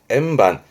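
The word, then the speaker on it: 円盤: 둥근 쟁반의 원반 발음은 M반. 조심해요. 얘 발음이 반이 기본입니다. 반입니다. 반, M반, M반.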